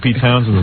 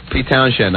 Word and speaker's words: Townshend: You don't even know how to say Pete Townshend's name. Spelled with an H, man. How do you say it again? Pete Townshend.